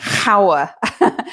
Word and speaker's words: hour: is not a vowel well h is not a vowel but it's silent so you do have and before the noun hour so it's an hour